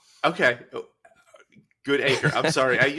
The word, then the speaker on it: Goodacre: good acre like they'll stress the acre bit like like you know the origin is it's a good acre like a good acre of land.